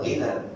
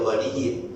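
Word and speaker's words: غني: Ini apa dibacanya? Bukan ghina, dia ghaniyin.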